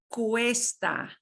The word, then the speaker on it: cuesta: The two vowels are going to be both pronounced. They're going to kind of slide together, but it's going to wind up sounding kind of like a W in English.